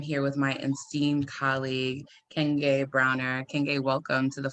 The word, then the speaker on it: Nkenge: Yeah, so it means, well, it's pronounced Nkenge. So just like three short American words, inside, cane, like walking stick or sugar cane, and gay, like happy or expressive.